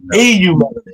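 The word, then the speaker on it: eumelanin: Sorry, I hate EU melanin. It's pronounced EU melanin.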